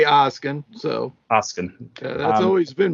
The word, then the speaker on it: Oskin: I say Oskin, so Oskin. That's always been my pronunciation.